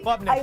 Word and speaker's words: Klubnik: Is it Klubnik? Am I even pronouncing it properly? Klubnik, yeah.